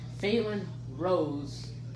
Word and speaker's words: Fallen Rose: Fallen Rose, or as he pronounces it, Phelan Rose, is a new What If YouTube channel that my fan slash best friend his name is Braylon.